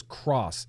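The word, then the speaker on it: XROSS: The Vaporesso Cross 2, but it's spelled X-R-O-S-S, but it says Cross.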